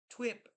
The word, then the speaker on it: TUIP: It's pronounced t uip twip. An old name for the scale. The universe. Oh, brick wall. T UI and t wip are pronounced the same.